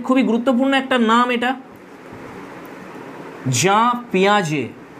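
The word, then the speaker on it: Jean Piaget: Next হচ্ছে father of child psychology, very very important, খুবই গুরুত্বপূর্ণ একটা নাম এটা, জাঁ পিয়াজে, তোমরা এটা জিন পিয়াজেট এরকম উচ্চারণ করো না, এটা জা পিয়াজে।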